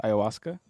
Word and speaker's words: ayahuasca: I think he has ayahuasca. Is that how you pronounce it?